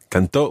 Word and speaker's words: cantó: You've got to put the stress on the last syllable so that they're different from the present tense.